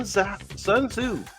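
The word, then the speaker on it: Sun Tzu: Chinese folks Chinese Visionaries this is Sun sunzo sunzo spelled s u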